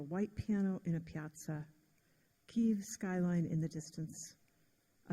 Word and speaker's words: Kyiv: So, the Russians say Kiev and the Ukrainians say Kyiv.